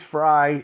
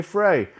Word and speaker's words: Frey: Some say it's Fry. It's spelled Frey, so I'm going to say Frey.